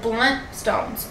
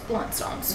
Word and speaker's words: Blundstone: blundstones, do you pronounce the N in bloodstones? Yeah, like blunt stones, blunt stones.